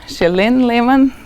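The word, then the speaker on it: Källén–Lehmann: people in the audience I've learned that the right way to pronounce this is chillin chillin Lehman correct good all right so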